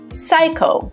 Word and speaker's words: psycho: P is also not pronounced when it comes as a first letter in words followed by consonant, like psycho or psychology or pneumonia.